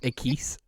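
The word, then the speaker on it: Equis: of the most sweatshirts i own it's it's pronounced a keys what a star brady brady brady doesn't drink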